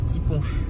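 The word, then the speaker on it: ti' punch: Je suis en train de dire à Aurélien qu'il y a des typons normalement. Et Aurélien dit quoi? Moi je dis on dit tiponche. Tiponche. Bien prononcé, c'est important.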